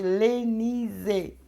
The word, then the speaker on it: Lenize: Mas sala de oração, missionária Elenise, eu falo para pronunciar assim bem forte, Lenise.